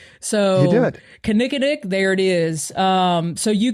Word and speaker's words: Kinnikinnick: Kinnikinnick. All right. Well, I think I said it right. So You did. Kinnikinnick, there it is.